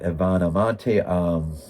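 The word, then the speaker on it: Ivana Monti: Fabio Testi, Ivana Monte.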